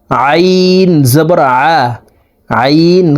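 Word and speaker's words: ع: খারা জবর হা জবর হা খারা জবর হা আইন জবর আইন খারা জবর আইন হরফকে হালুকের মধ্যখান থেকে উচ্চারণ করব।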